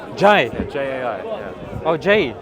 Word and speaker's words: Jai: Oh, Jai. Like, yeah, but it's pronounced Jai.